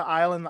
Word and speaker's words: Isla: that but like it's kind of like aisle like the island island the one that i never knew was isla fisher is isla fisher the